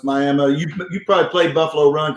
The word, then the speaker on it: Miami: It's spelled Miami, but everybody knows, it's Miami.